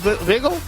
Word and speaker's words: Vigil: uh uh uh Rita Hyde say his name wiggle Michael Rich vigil wiggle gotcha all right we're